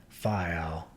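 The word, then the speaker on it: Faial: that are pronounced it file and put the accent on the first syllable we anchored in the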